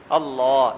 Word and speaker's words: اللہ: ہیں، اور اللہ اکبر، اللہ، یہ جو لفظ اللہ ہے نا، عربی میں اس کا تلفظ کریں تو طریقہ یہ ہے کہ زبان کو مفخم کریں، موٹا کریں، اللہ، یعنی اللہ نہیں، اللہ، اللہ، اللہ اکبر۔ یہ